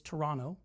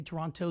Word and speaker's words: Toronto: And by the way, just so you know, it's Toronto. We pronounce it that way. If you say Toronto, they know you're not from there.